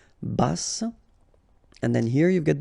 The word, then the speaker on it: bas: Bas, final S not pronounced. À taille basse, okay, so basse, final E not pronounced, but then you pronounce the double S, so S, basse.